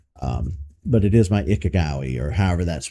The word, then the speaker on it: Ikigai: Iga, Iga, Ikiga, I I I this one's hard to pronounce.